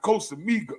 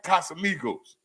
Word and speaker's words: Casamigos: me taking shots of Costa Miga am I saying it right casamigos so I started taking